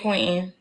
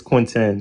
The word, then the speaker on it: Quintin: Go ahead, but go ahead, Quentin. It's Quintin. Can you pronounce the T?